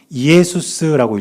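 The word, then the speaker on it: Ἰησοῦς: 그런데 저 단어가 어떤 뜻이냐면 첫 번째 있는 단어는 예수스라고 읽습니다. 뜻은 예수란 뜻이에요. 두 번째 단어는 크리스토스라고 읽어요.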